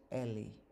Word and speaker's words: Eli: by syllable okay so the first word is eli but the bantu would say it ellie and it's repeated so